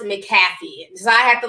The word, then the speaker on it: McAfee: and a lot of people always call it mcafee but it's pronounced mcafee so i have to like kind of reprogram